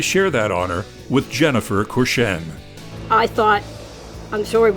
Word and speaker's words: Courchesne: So my French isn't very good, but her last name is Courchesne.